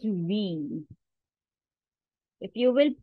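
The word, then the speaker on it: wie: is V in German it is not y it is V if you will pronounce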